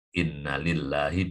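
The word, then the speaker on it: إن لله: Ini bacanya jangan keliru kalau nanti innanya panjang jadi lain. Inna lillahi bukan inna lillahi, bukan kalau nanti lain.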